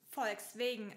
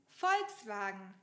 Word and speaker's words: Volkswagen: Diese Marke wird nicht Volkswagen ausgesprochen. Wir sagen dazu Volkswagen.